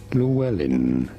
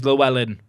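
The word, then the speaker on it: Llewellyn: In English, however, it is usually pronounced as Llewellin. That's how I'm saying it. Cheers. Julia Miguel know. It's Llewellen then. Good. We've established the English pronunciation is Llewellen and we are an English-speaking country in Gibraltar.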